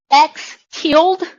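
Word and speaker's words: x tilde: Uh, the symbol for median is pronounced x tilled.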